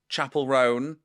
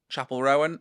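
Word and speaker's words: Chappell Roan: Chapel ran Chapel Rowan I'm not sure people say her name wrong all the time and I don't want to get it wrong so I'm sorry Chapel Rowan Chapel ran not sure right it's very casual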